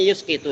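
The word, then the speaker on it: فيسقط: Fa yasquutu fayusqitu bacanya yuskitu ya.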